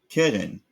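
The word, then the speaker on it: קרן: Keren, like the English Karen.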